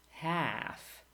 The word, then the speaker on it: half: Silent L. Salmon, calm, half, would, should, could, talk, walk, and others.